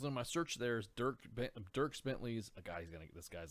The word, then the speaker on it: Dierks Bentley: Yeah, so hats off to you, am I pronouncing that right? Dierks Bentley's Whiskey Row in Gilbert, Arizona.